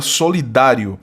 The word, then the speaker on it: solidário: que é a palavra solidário. É verdade ou mentira? Verdade. Ambas trazem sílaba tônica na penúltima sílaba, são palavras paroxítonas terminadas em ditongo crescente.